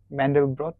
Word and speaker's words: Mandelbrot: Mandelbrot?